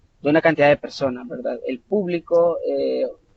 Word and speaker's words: público: Es tan importante porque la primera pronunciación donde la sílaba tónica está determinada en la primera sílaba, habla sobre un subjetivo, es decir, sobre el público haciéndose referencia a una cantidad de personas.